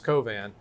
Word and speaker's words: Covan: Was trying to say Chauvin, but it's Covan.